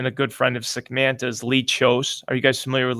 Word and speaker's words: Kjos: does really handsome ads his last name is spelled kjos he has a company called chose outdoors he's a fantastic photographer